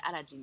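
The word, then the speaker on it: アラジン: ラジン、アラディンと書いてアラジンですよ。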